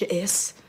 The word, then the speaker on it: J'ess: not clever jess detention it's pronounced your s that's what i said